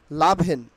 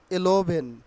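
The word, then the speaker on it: eleven: আর খেয়াল করো এইখানে লাভেন অর ইলাভেন আগে আমরা কি উচ্চারণ করতাম এলোভেন তাই না কেউ এলোভেন কেউ বিভিন্ন ভাবে বলার চেষ্টা করতাম বাট সঠিক যে উচ্চারণটা হবে লাভেন লাভেন লাভেন অথবা এটাকে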